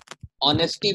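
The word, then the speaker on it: honesty: अब आवर है, अब आवर में देखो ओ की प्रोनंसिएशन हो रहा है, देखो इसमें एच साइलेंट हो गया। ऑनेस्टी बोलो, अब ऑनेस्टी तो बोलने नहीं, ऑनेस्टी ना बोलते हो, ऑनेस्टी तो बोलते नहीं हो, साइलेंट हो गया।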